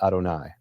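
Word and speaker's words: יהוה: see the letters Yud He Vav He, you pronounce it Adonai, Lord.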